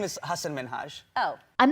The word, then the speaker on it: Hassan Minhaj: People always mispronounce it. They're always like, Hassan Minhaj, Hussein. I'm so sorry, I can't pronounce it. Meet my son, Higsby Witherthrottle III. And I'm like, how do you not pronounce Hassan?